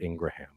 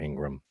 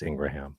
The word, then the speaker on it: Ingraham: interview with uh Laura Ingraham I pronounce every syllable sure it's ingr you do you can't say that it's Laura Ingram it's Ingraham Ingraham yes sound off be